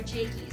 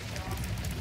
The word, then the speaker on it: Jacques: Or Jakey's. I called him Jakey's. I'm pretty sure he... So did you learn his name was actually Jacques?